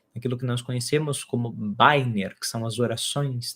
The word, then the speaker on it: Bænir: Isso pode se dar através daquilo que nós conhecemos como Bænir, que são as orações, também pronunciado como Bænir.